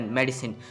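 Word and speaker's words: Madisynn: और ये मेडिसिन दवाई नहीं है, इसको प्रोनाउंस किया जाता है MEDYSIN मेडिसिन।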